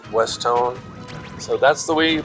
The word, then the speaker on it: Westone: stone so when you put those together it's westone so that's the way you pronounce it and it's good to know after